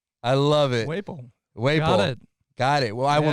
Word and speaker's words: Whaples: Whaples. Whaples, okay. And you are the lead. It's like maple syrup.